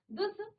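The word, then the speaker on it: दुस्: उपसर्ग है ठीक है दुस य आधा स की तरह यहां पर इसका उच्चारण आधा स की तरह है या दु या दुस तो इस प्रकार से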